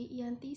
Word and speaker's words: Giyanti: Dalam pelafalan Belanda, ia tersebut sebagai Ianti, sedangkan secara tertulis ia terbaca sebagai Giyanti.